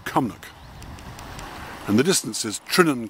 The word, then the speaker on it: Terringzean: and the distance is trining castle pronounced that way but spelt tarinsian one time is also